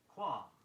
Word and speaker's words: qualm: Here's another of those words spelled with an L that isn't pronounced. Qualm, Q-U-A-L-M, meaning an uneasiness or misgiving.